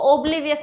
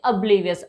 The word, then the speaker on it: oblivious: अब देखिए इसको oblivious मत पढ़िएगा, राइट, oblivious इसको आप मत प्रोनाउंस कीजिएगा, इट्स प्रोनाउंसिएशन इज oblivious, आ की साउंड देगा यहाँ पे वो oblivious, राइट।